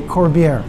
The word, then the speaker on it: Corbiere: to say your last name for me okay corvier corvier okay so it's French yes I'm German